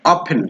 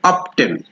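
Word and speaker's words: often: ও এফ টি এন এটার উচ্চারণটা কি হবে অফেন কিন্তু আমরা অনেক সময় বলি অফটেন কিন্তু এটা হবে অফেন অফেন ফিক্সড দা ইস্যু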